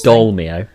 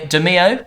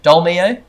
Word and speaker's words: Dolmio: it the pasta sauce dolmio dolma demio dolmio demi you're not pronouncing the oh demio charlie demilio no